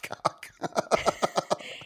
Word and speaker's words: Koch: Robot cock. It's spelled Koch.